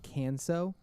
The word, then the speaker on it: Canceaux: And they have a hot sauce called Canso. It's spelled CANCEAUX. Good. Is that right? Yeah. Yeah. Like it's like French or something like that.